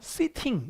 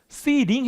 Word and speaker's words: sitting: 모음 사이에 T가 오지. 그리고 강세 앞에 있으면 미국 사람들은 T를 굴려요. 이걸 flap이라고 불러요. 근데 영국 사람들은 T를 그대로 해요.